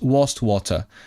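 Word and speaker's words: Wastwater: It looks like waste water, but how do you pronounce it? Wa. Wast was wast water.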